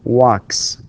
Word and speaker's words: walks: We say walks, not walks, not z with z sound. No, it's with s sound, because the final sound, right, or the final sound in this word, in this verb, is voiceless, which is k, and